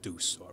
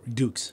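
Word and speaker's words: Dux: story like a frank deuce dukes dukes yeah not dude sounds like lazy pronunciation that sounds like your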